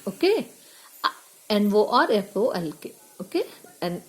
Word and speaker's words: Norfolk: The voice in the dream insists that I must go to a place called Norfolk. Here L is silent, okay? Norfolk, okay? And L is silent. Norfolk.